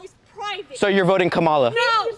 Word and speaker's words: Kamala: The way she pronounces her name is Kamala.